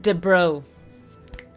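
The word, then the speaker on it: de Broglie: It's pronounced de bro.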